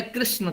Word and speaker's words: कृष्ण: तो जैसे हरे कृष्णा बंगाल वाले उच्चारण करते हैं, उनके उच्चारण में अशुद्धियां होती है, लेकिन जो संस्कृत वाले होते हैं शुद्ध उच्चारण करते हैं। कृष्ण, ये इस तरह उच्चारण होना चाहिए। लेकिन कृष्णा कृष्णा कृष्णा ये इसी में लगे रहते हैं।